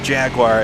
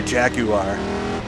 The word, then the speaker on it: Jaguar: We say it Jaguar in America. That's how everybody says it here. I know the British say Jaguar, but if I say that, it sounds silly.